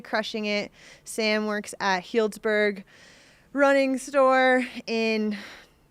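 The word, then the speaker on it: Healdsburg: Sam works at Hiltsburg Running Store in Helsburg, California. I've been saying the name wrong earlier. I think I said Hellsburg a few times, so my bad there.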